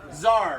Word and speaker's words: Tsar: for the seats our Tsar right but to see is silent sometimes you'll see it with a seat or a tea so Tsar Nicholas all right so